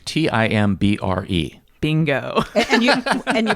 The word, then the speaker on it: timbre: And it's spelled Timbre. Bingo. And you pronounced it timbre. Timbre.